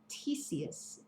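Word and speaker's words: Ctesias: In chapter 2, he talks about a man named Theseus. That's how you pronounce it.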